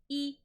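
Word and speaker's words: い: little eyes this is e a e it is pronounced like a long e i think the long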